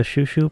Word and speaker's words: chouchou: The shushu part of their final group name is pronounced the same as the Japanese onomatopoeia for the kissing sound.